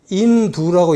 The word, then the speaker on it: 인도: 원래 이 인도란 말은 인두라고 읽어야 됩니다. 이건 현장에 이 구법 대당 구법서에 인두라고 읽으라고 나옵니다. 인두를 이하를 붙여서 나라 이름을 한 겁니다.